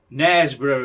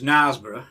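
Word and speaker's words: Knaresborough: was he was english but he pronounced nesboro as nosborough oh dear and um beric as berwick so how english was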